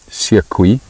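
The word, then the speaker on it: Seekoei: Carol, to answer your question as to how you spell the name of the dam, Siekwi, which directly translated means hippo.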